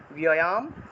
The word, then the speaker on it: ব্যয়াম: তে ব্যয়াম, তে ব্যয়াম, ব্যয় বয়ের সাথে জফলা থাকায় বিয় উচ্চারণ, ব্যয়াম। সম্ভাবিতস্য দন্তস্বয়ের সাথে জফলা থাকায় সিয়, সম্ভাবিতস্য চ কীর্তি, চাকীর্তিটাকে চ কীর্তি উচ্চারণ করা যায়।